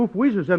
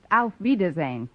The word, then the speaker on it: Auf Wiedersehen: Actually, the word you have in mind is pronounced Auf Wiedersehen.